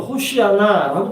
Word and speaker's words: 호산나: 여기 호산나는 히브리어로 호시아나라고 발음합니다.